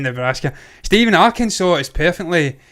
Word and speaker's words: Arkansas: separate they're fractures and that little more console arkansas arkansas sorry i keep saying nebraska because i'm